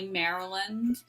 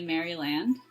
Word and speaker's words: Maryland: It's almost like a difference in pronunciation, like some people will say Maryland, and some people will say Maryland, like in the here and now.